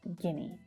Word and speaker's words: Guinea: Again, lots of vowel letters in that last word, but it's just pronounced Guinea.